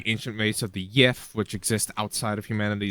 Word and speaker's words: Yith: ancient race of the Yith, which exist outside of humanity as well. The Not it's pronounced weird, but it's Yith.